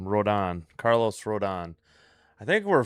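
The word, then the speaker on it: Rodón: Rodon.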